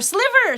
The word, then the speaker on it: sliver: Or sliver! Sliver rhymes with diver, and that's the term for carded cotton.